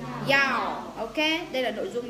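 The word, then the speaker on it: 幺: ý một tí xíu, nếu như mà trong số điện thoại mà có con số 1 á thì mọi người nhớ đọc là gì? Yao.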